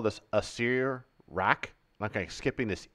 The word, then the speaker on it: Acererak: So I would say Acer, like Acer, who's a soothsayer, Acererak, and I would skip this E. So you're supposed to say Acererak, so Acererak, which hurts, and four syllables.